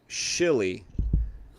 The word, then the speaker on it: Shili: they are from the planet shili so it's like Chile but with an S that's where the two